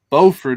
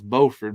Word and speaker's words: Beaufort: but called Buford now there's a Beaufort North Carolina it's about the same but they call they pronounce y'all pronounce y'all's Beaufort but ours is Beaufort South Carolina and that's actually where